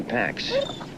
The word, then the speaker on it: Pax: It's pronounced pox, isn't it? But you want a dog named Pox? Yeah. Okay, Pax.